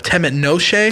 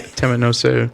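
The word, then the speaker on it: Temet Nosce: Temet Noshe. Don't fuck it up. Am I saying it right? Yeah, Temet Noshe.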